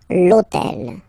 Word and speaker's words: l'hôtel: starts with H, but remember that in French we don't pronounce H, okay, so basically the first sound of the word is the vowel O, okay, so for the